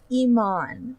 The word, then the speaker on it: Iman: people usually pronounce it Iman as in like David Bowie's Widow see I thought it